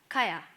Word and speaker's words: kaya: 2 syllables, really easy. Kaya. Can everyone say kaya?